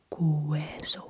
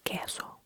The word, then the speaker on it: queso: example word cheese queso we ignore the u we do not say cueso we say queso queso or quien quien